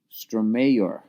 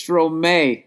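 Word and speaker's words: Stromae: out an artist named stor that's how you say it stor no my god I'm an idiot oh my God I'm a idiot it's stro and then it was Dash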